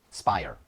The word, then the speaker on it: SPIRE: it's called the SP i e how to pronounce it sping Spire yes Spire yeah can you talk a little